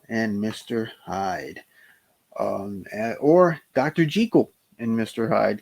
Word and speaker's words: Jekyll: Jekyll and Mr. Hyde, or Dr. Jekyll and Mr. Hyde, because that is the way Robert Louis Stevenson wanted it pronounced, believe it or not.